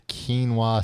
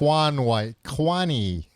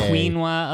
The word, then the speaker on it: quinoa: Have you ever heard anybody over the age of 50 try to pronounce quinoa? Um, everyone I think the only reason why members of my family were able to pronounce it was because they heard it before they saw it written down. Yeah. So it's not like Juan Kwani.